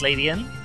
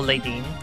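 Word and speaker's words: Ledian: Like, I adore Ladybur, one of my favorite bug types, as is Ladian. Or Ladeen, as I always used to pronounce it as a child.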